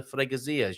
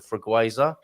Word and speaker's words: Freguesia: How are you getting on with your appointment at the Freguesia, Junta de Freguesia? That was I've heard that pronounced quite a few different ways. The Freguesa by English people.